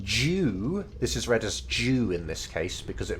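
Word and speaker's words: 中: here uh hyrule jew this is read as jew in this case because it means all of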